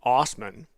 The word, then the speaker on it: Assman: Dave Assman, who pronounces his name Osman, and who wouldn't pronounce their name that way, said, quote, it's my last name.